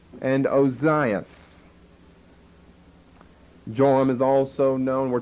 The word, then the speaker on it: Ozias: jehoram and uh Zion but here in Matthew in the Greek form of the Hebrew words they're pronounced joram and ozias okay then look down at verse 8.